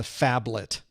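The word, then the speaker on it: phablet: the way of the fablet so so if you go back to earlier versions of the A+ we had to learn about the faets I'm not saying it wrong it's fablet pH fablet um so there are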